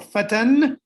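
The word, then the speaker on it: فتًى: So the singular is fata or fatan, if you pronounce the two fathas at the end, and the jam' is fityatun, and between them is the dual fatayani.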